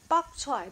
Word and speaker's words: 白菜: Bok-choy because it's from south of China, 南方, Guangdong, Canton. And that's the way to pronounce 白菜. Bok means 白.